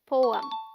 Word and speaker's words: poem: Poem. The PO sounds like po, as in go, and is this stressed syllable.